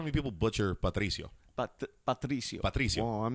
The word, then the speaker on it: Patricio: Well, no, you'd be surprised how many people butcher Patricio. Patricio. Well, I'm not you got to roll say that it R. like that. Patricio. Oh, yeah. You got to pop that R up.